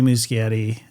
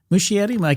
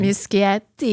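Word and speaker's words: Muschietti: you got to see Musciatti again. Mushietti, I keep forgetting. Muscatti. You could say it like that. You could, but you'd be wrong. I think it's Mushi, but I could be wrong.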